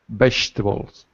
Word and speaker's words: vegetables: PF to me vegetables vegetables notice that's right vegetables notice how we drop the second syllable we don't say vei even though it's written V we say vegetables vegetables excellent this vegetable